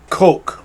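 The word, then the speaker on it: Koch: with the HK slap is that the correct German pronunciation not really a but uh uh I I can't do it Coke that's an acceptable pronunciation all of this and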